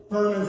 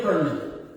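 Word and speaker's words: Pearlman: Perlman se escribe P-E-A-R-L-M-A-N, de perla, ¿no?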